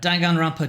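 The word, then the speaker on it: Danganronpa: Uh, Dangan Rompa 2 by 2, that's apparently how it's pronounced, is effectively a remake remaster, probably is probably a bit more accurate, of Danganrampa 2.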